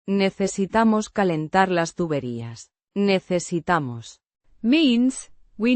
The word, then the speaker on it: calentar: Kah-len-TAHR. With the stress on the. TAHR. Syllable.